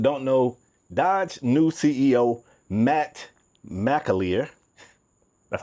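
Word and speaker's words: Matt McAlear: For those that don't know, Dodge new CEO Matt Mleier.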